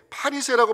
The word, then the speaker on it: 바리새: 자, 바리새인, 정확하게 발음한다면 파리새라고 발음을 해야 되는데, 이 파리새란 단어는 분리된 자들, 이런 뜻입니다.